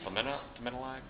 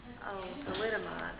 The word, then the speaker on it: Thalidomide: And I think it's called thymidylide. I always mispronounce it thymidylide. There's a thing that mothers were exposed to at one point. Thalidomide. Thalidomide, there you go. Thalidomide, I can never say that right.